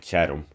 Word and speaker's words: Chatham: but you pronounce it chatham the the second t well the t and the h are pronounced separately so let's chat on